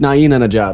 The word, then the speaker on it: Nain Anajar: And it's pronounced Nain Anajar. It's not that hard to say.